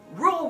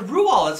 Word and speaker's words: Roald: so rule what role rule would respond it's how it rules i can say his name did you know that it's rule i know that's r-o-a-l-d but it's actually pronounced rule